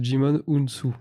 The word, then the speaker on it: Djimon Hounsou: son prénom tu fais un effort quoi hutu prononce djimon hounsou d'une vidéo de cette source et non de